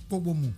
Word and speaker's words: Pogomou: Pogomou ou Pogomou? Pogomou. Bogomou. Pogomou, c'est P? Oui, c'est Pogomou.